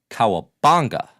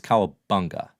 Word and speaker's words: Cowabunga: me that hip-hop happens that you are saying Kawabanga, which now I have to correct you and say, no, it's Kawabunga. Rhymes with, ooh, that's a tough one.